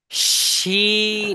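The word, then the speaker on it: شين: সেটা হবে ঠিক আছে তাহলে কি বলতে হবে শিন এই দেখেন চেপে ধরলে কিন্তু আসতেছে শিন সিন শিন শিন হবে শিন হবে সিন না শিন শিন শিন উচ্চারণ হচ্ছে কোথা থেকে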